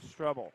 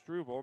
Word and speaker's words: Strebel: corner good for Brianna strebel excuse me on the last name for the pronunciation there it's struble Maddie Ward gets the